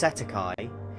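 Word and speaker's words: cestui que: In New Zealand and Australia, this is commonly referred to as cest tuiquy trust, pronounced setti.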